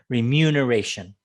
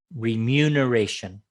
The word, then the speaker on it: remuneration: for your services okay remuneration remuneration second syllable stress remuneration remuneration just a moment we